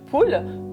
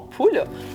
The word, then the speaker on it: PUL: Alors là, je vais vous présenter les culottes en poule. Donc, poule, c'est une sorte de gros plastique. Donc, polyuréthane laminé. Sur les sites, vous allez voir que ça s'écrit PUL. Donc, ça, c'est toutes ces culottes-ci.